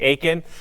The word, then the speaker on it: Aiken: it to me in Aiken. That's it. I learned something, like it's pronounced the same. It's exactly the same, minus one letter.